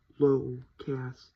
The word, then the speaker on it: Locascio: My name is Locascio. It's exactly how it sounds. Locascio. That's how you pronounce it.